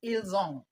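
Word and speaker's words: ils ont: female and of course this s is silent you pronounce that elong remember that this s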